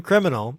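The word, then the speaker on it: Kriminel: as the name but it's Kri mi ne L it's like a phonetic criminal so barren criminal he gets some super protective of criminals and he'll hurt you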